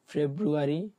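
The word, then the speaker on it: Februar: এই প্রোনাউন্সিয়েশনগুলো আরেকবার বলি, শুনেন, তারপর আপনাদের থেকে নিব। ইয়ানুয়া, যেটা জানুয়ারি, জানুয়ারি হচ্ছে ইয়ানুয়া। ফেব্রুয়ারি, ফেব্রুয়ারি হচ্ছে ফেব্রুয়া।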